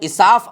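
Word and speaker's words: إساف: اصاف جو بت تھا، جس کا تلفظ اصاف آیا ہے، اصاف جرہم قبیلے کا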